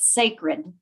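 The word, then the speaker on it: SACRD: is s-a-c-r-d dot org we pronounce it sacred but it's one letter short of that word but it's sanded to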